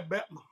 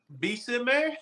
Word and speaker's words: Bessemer: Oh, some people say Betma. I'm sorry. I didn't. You know, he said it right. He was trying to give the slang version. Oh, Bessemer?